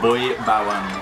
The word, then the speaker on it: Boy Bawang: It's pronounced Boy Bawang.